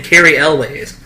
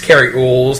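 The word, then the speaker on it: Cary Elwes: Yeah, but apparently he pronounced his name Carrie Elways. No, it's Carrie Oles. Don't listen to people who say that.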